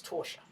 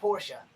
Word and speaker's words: Torsha: hope she's doing well her name is torsha not porsha torsha just like portia but with the t don't ask me to